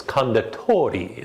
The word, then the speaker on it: Condotori: about the pronunciation and studied this one so it's kunda tori that's how i'm going to make sure that i say the number 10 in there